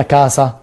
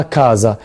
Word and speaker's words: casa: وشفناها في الحلقة السابقة كلمة كازا وقلت لكم ان حرف الاس fra due vocali لما يجي ما بين حرفين متحركين بيتنطق زيتا. يعني ما قلتهاش هنا كاسا، لا نطقتها كازا. ليه؟ عشان في اللغه الايطاليه زي ما قلت لكم ان حرف الاس لما اشوف اي كلمه ما بين حرفين متحركين ينطق زيتا.